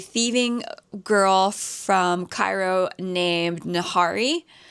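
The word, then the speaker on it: Nahri: Basically, we follow a thieving girl from Cairo named Nahari. Nari, I think is how the audio book pronounced it.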